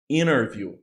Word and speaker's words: interview: You can not pronounce it, okay? So Okay. 20. Just like interview.